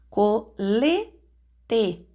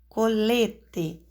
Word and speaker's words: colete: Por exemplo, colete, colete. A sílaba tônica é lê, penúltima.